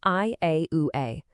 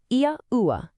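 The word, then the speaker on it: Yahweh: The 4 letters come together to form the name YAH-WEH, pronounced YAH-WEH, a name made of 4 distinct vowel sounds, just like Josephus said.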